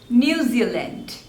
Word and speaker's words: New Zealand: Netherlands Netherlands next is New Zealand New Zealand so there are three syllables and the stress is on the second one new Zeal lent New Zealand New Zealand